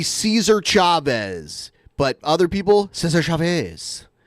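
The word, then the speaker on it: César Chávez: It's Cesar Chavez.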